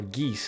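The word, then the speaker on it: Geass: No, probably code gas or geese as I think it's pronounced in its original language is uh is referencing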